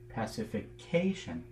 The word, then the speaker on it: pacification: And if we go another level and talk about, say, the pacification of, say, a warlike group, pacification, it's moved to the fourth syllable of the word.